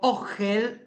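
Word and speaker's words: אהל: Y la tienda, el hebreo, ogel. Ogel, o h, para poder pronunciarla bien. Ogel, una o gutural. Ongel de acá de la garganta es tienda, es refugio,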